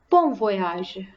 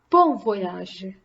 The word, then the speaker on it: bon voyage: voyage as in English now repeat after me bon voyage bon voyage Bon Appetit Bon Appetit enjoy your meal or